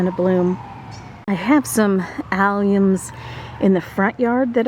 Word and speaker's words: Allium: also have some drumstick alums I know where they're at uh so I'll be sharing those with you later but let's go ahead and talk about alums it's Alum Alum it's how it's said they're also known as